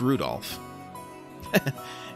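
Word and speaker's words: Rudolf: it's just this anyway this guy's name is pronounced rudolph you must hate grandfather for giving him that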